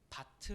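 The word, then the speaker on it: בת: 두번째로 빼앗다 라는 표현입니다 왜냐하면 딸이라는 이 단어는 히브리어로 바트 라고 발음합니다 뭐 아직 비슷할 것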